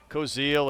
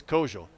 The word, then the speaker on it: Kojal: conference, and he said, I kept calling him Koziel, and finally he said, it's Kojal.